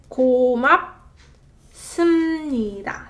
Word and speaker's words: 고맙습니다: So this one is 고맙. 습니다. So it's not 습니다, but 습니다. So 비읍 받침 becomes a 미음 받침 sound, therefore making it a lot smoother to pronounce.